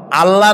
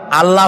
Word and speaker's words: আল্লাহ: কি গুণাবলীতে বিশ্বাস আল্লাহর নাম আল্লাহ বলেন তো আল্লাহ নয় কিন্তু আল্লাহ হচ্ছে অশুদ্ধ শুদ্ধ হচ্ছে আল্লাহ বলার সময় মুখটা